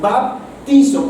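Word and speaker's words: βαπτίζω: La palabra bautismo viene de una palabra griega que se escribe o se pronuncia baptizo, con P ahí intermedia, baptizo, que significa sumergido o hundido, hundir, sumergir.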